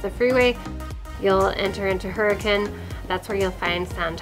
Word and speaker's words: Hurricane: So Hurricane is spelled Hurricane for those who are wondering, but the locals do call it Hurricane.